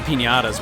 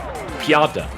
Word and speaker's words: Pianta: Man, Nintendo sure was proud of the pinatas, weren't they? At least at this point. Pinatas? How do you say their name? Pinatas? Pianta. Piantas, okay. Remember, I don't like Sunshine, so I don't fucking remember their names.